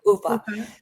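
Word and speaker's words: Uffe: and um and her the entire way her brother Ofo ooa is how you say his name. Ufa the um the car accident versus um the beating is a huge difference in the two.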